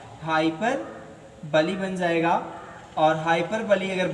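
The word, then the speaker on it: hyperbole: एकदम, क्या हो जाएगा, हाइपरबोल हो जाएगा। लेकिन हाइपरबोल हमें नहीं बोलना है, हमें पढ़ना क्या है, बोलना क्या है, उसे हाइपरबली बोलना है। राइट प्रोनाउंसिएशन क्या होगा, हाइपरबली होगा।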